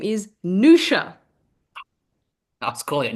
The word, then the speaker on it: Niusia: So the show is named after my grandmother, whose name is Nusha. I was calling it Niusia. Anyway, Niusia. Niusia. We've had Niusia, Niusia, all variations on it, but her name is Nusha.